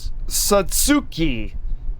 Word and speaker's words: Satsuki: Satsuki. The TSU, Tsu. It's like Sue and Sue. It's hard to pronounce. Satsuki. Three characters. Sa-tsu-ki. I'm picking up a signal.